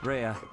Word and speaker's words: Rhea: There's Lady Reyes. Or Rhea, excuse me. I keep pronouncing her name wrong.